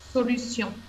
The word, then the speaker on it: solution: par le mot solution est ce que la prononciation est identique à l'espagnol solution c'est identique alors quelle différence avec l'espagnol quelle